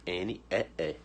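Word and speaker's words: knee: certo rende mão nióbio não pronuncia a letra k certo é como se ela não existisse ela é muda então ele aqui são duas letras é certo k n e ne joelho significa joelho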